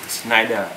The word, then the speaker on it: Schneider: hiệu Đức luôn nha, gọi là Schneider, biết đọc đúng không? Tiếng Đức ha, Schneider.